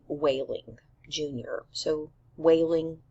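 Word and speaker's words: Wehling: K whaling Jr so whaling his last name is pronounced like crying so we discover that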